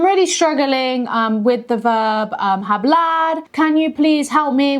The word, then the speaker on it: hablar: So I'm really struggling with the verb hablar. Can you please help me with pronunciation and just practicing, specifically examples?